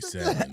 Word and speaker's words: salmon: Like the L should not be there. It shouldn't. It shouldn't. I'm trying to pronounce all my letters. Yeah, but yeah. Yeah, it's definitely salmon.